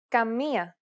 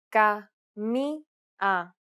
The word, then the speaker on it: Καμία: Listen to an example where the accent is on the first vowel. Καμία. Καμία. Notice how the vowel sounds are separated?